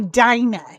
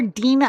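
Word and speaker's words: Dinah: we get to do Dina. And you're going to hear me call her Dena a lot because that's how you actually pronounce her name in Hebrew.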